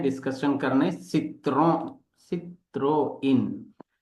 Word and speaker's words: Citroën: जा रहा हूं वो नहीं है सित्रों। ये मित्रों सित्रों नहीं है। ये फ्रांसीसी भाषा का वर्ड है जिसको सही प्रोनाउंसिएशन करेंगे सित्रोइन। मे be something else also but इट इज सित्रोइन।